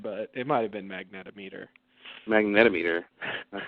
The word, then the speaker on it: magnetometer: their I think it's I think it's pronounced magnom meter magnom meter yeah that sounds a lot better maget actually um Wikipedia says the correct term is mag magnetometer oh maybe they said